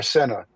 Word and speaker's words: Sena: She said Cena is pronounced Cena and it's spelled Cena. We are Sena, Sena.